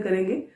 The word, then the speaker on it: Chara: Students इसको pronounce कारा करना है, नॉट चारा। कई बार स्टूडेंट्स इसको पढ़ते हैं तो CHARA ये समझ लेते हैं, बट ये कारा है।